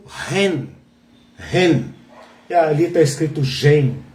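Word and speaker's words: 仁: No título está Gen. Né? Okay. Porque é difícil transliterar o chinês para o ocidental. Então, antigamente se falava Gen, que provavelmente se pronuncia Ren, e hoje, se você procurar, esta virtude é o Ren.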